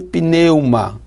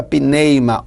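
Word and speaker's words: pneuma: é essa no grego ela é pronunciada mais ou menos assim se neymar ou pneu uma essa palavra pi neymara o pneu uma ela vem do grego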